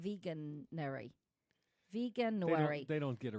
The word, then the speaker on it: Veganuary: Vegan like January, but veganuary.